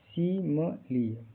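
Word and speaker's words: simile: लिए बनाई गई थी एस आई एम आई एल ई का उच्चारण सी म लिए इसके लास्ट में क्या है इ है जैसे शी मी ली यहां तीनों आई का उच्चारण इ छोटी इ की तरह होता है आखिर ई यहां साइलेंट नहीं बल्कि ली की ध्वनि देता है।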